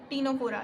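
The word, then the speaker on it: Ctenophora: ये इसकी प्रोनाउंसिएशन है, क्या था, इसको हमने ट्रिक में क्या बोला था, दैट इज़ कॉलेंड्रेटा, एंड इसको हमने क्या बोला था, सिटेनोफोरा, बट इसको हम क्या बोलते हैं, टीनोफोरा एंड सिलेंड्रेटा।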